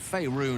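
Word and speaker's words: Faerûn: Faerun overflows with magic infused. Okay, so that's how you pronounce it.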